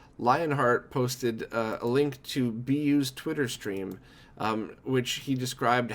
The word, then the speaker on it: byuu: everything wrong, this time, going from BYUU to BU, I think a lot of people probably made the same jump.